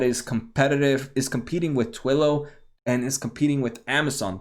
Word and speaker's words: Twilio: competitive is competing with twillow and is competing with amazon the one that's competing with willow this is ticker t-w-l-o and i might be pronouncing why it might be twilio but twillow it does it's a